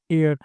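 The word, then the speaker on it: heir: एयर। सो यहां पर ई vowel का प्रयोग होता है। यह एस साइलेंट है।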